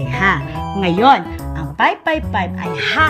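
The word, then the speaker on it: ห้า: Sapagkat ang 5, ang pagbigkas sa Thailand ay ha.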